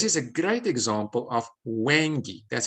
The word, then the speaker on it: Hwange: This is a great example of Hwange. That's how I pronounce it, Hwange National Park.